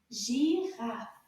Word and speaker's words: girafe: Girafe. beautiful animal. Girafe. Combien de syllabes dans le mot girafe? Girafe. Girafe. 2.